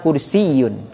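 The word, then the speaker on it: كرسيّ: Jadi kursi itu memang pakai tasydid. Jadi bacanya hadza kursiyun gitu.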